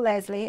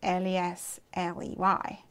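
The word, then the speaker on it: Leslee: Although I say her name's Lesley, technically her name is Lesley. She spells it different. L-E-S-L-E-E. And I'm L-E-S-L-E-Y. But she's from America. So she says Lesley.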